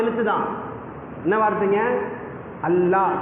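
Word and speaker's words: الله: அல்லாஹ், கடைசியில் ஹா வரணும்.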